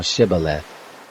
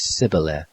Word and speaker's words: shibboleth: they said to him say now shibboleth and he said sybil for he couldn't manage to pronounce it right then they laid hold